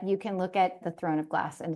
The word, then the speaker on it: Throne of Glass: Have you read A Thorn of Glass? It's Throne of Glass. I always say it wrong.